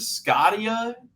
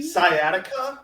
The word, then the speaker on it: sciatica: How do you pronounce this? Have any of you guys seen this? The Scottia injury. Sciatica.